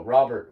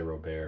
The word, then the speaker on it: Robert: Apparently, it's Robert. So Robert without the T. I feel like I've heard of most people say Robert.